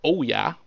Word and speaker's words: Ouya: At this point, I am closer to buying a Wii U and Ouya, or Oya, as it's pronounced here in America.